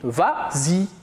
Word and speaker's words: vas-y: ça la vraie conjugaison mais comme il est suivi en prenant on ajoute le s pour faciliter la prononciation on dit vas-y très bien en passant